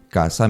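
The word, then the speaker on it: casa: in the hands hair then you have Kasa and CA with Z again s and Z Kasa means house and catha means to go hunting my boy the catha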